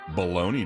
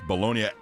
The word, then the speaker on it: Bologna: All right, today's National Bologna Day. And you may pronounce the sandwich meat as bologna. That's perfectly fine. But the name Bolognia comes from the birthplace Bolognia, Italy.